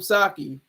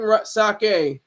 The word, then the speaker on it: sake: might be sipping some saki sake excuse me I said it wrong I always try to say the right way you you're sipping sake Keith I know it's